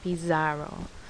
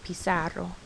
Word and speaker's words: bizarro: in this word bisaro notice that sounds like a s not a z sound it's not bizarro it's pissarro okay these are the